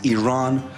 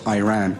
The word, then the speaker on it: Iran: Our country is named Iran, not Iran.